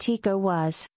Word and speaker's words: ECOWAS: Both men who brought Ebola to Nigeria have links to source-funded ECOWAS, pronounced ECOWAS, September 4, 2014.